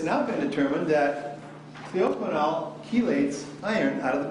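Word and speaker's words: clioquinol: And so what John Ferber said was that they had done these experiments using a drug called cleoquinol. I'll spell it for you.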